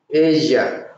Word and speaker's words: ella: Tú, you, él, él, he, ella, ella, she. The reason why we say in Asia instead of ella, like in English, because when you have double L before a vowel in Spanish, you pronounce ya again, like the J, right?